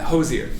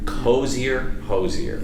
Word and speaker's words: Hozier: Hozier. Right. I hesitated there, but it rhymes with cozier. Hozier, Yeah.